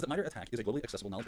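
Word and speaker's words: MITRE ATT&CK: Yeah, MITRE attack, right? So it's spelled oddly, ATT_CK, and this is from the MITRE organization.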